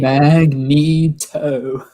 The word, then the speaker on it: Magneto: to storm and yeah this is how you pronounce his name magneto one of the cartoons kept calling a magneto